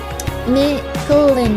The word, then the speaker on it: Micolin: Micolin is how you say Punch Up's real name. Oh, Micolin.